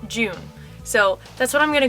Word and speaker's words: Jun: me in the comments that her name is pronounced june so that's what i'm gonna go with don't